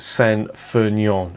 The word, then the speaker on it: St. Feuillien: it into my head it's pronounced san fernion i think fulion is